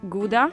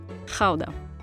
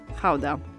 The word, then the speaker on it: Gouda: depending on whether you're a native you would pronounce it either GAA or Howa so since we're talking about authentic Dutch cheese we're going to call it Howa the cheese takes its name from the city